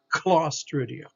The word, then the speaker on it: Clostridia: But here's a C followed by a consonant, and so it's a hard C or K sound. Clostridia.